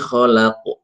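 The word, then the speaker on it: خلق: Iqra bismibikalladzi khalaq. Khalaq. Jangan sampai lamnya dinaikkan.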